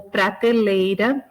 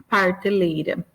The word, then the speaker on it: prateleira: Ou prateleira, parteleira, né? Então também continua na mesma sílaba.